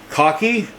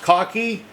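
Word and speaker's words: khaki: Cocky. I think it's pronounced cocky. K H A KI. Someone told me it's pronounced cocky.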